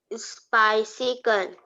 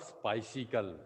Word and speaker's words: bicycle: Bicycle. Not spicicle.